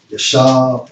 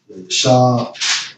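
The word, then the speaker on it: ישב: For sit down, Strong's H3427, pronounced as Yashab or Yashab.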